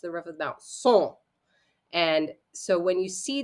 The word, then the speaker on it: son: nasal vowels is that the N is not pronounced. You might see something that looks like O-N. S-O-N would be son or sun in English, but son. But we don't say the N part. It's son. And the N doesn't happen.